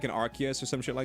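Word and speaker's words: Arceus: through your trash you say arus or archus depending I feel like since I've been told how to say it properly quote unquote I I kind of default to archus more times than not but I do prefer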